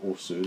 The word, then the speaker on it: osu: You osu'd it. Let's get our osu on again. It's not osu, it's os. What? The U is silent.